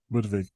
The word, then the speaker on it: Budwig: u d w g but of course the W in the German pronounce like a V almost isn't it like a yes buv yeah so she's got